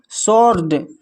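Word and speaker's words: sword: फिर है सॉड। शॉर्ट में भी डब्ल्यू साइलेंट है यहां पर।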